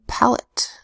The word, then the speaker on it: palate: down first word palate first syllable pal the closed syllable so it has a short a ah let's all sound full second syllable at spelled a te because this is an unstressed syllable the a in pellet makes a sure bowel sound next word notice first